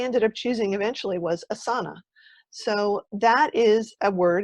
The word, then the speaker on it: Asana: said you know what it actually doesn't matter so it's its asana that's the way people say it it's fine it's a beautiful word